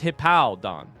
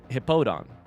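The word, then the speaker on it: Hippowdon: It looks like hip pow don. So they they want it both ways, right? It's a hippo. So it should have hippo in it, right? But instead it's hippowon. It's not hippodon.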